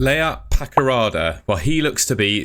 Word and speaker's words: Paqarada: who's from Kosovo and he's reported essentially that Bristol City are after layout layout Pakarada that's how you pronounce it so yeah looks like obviously Gard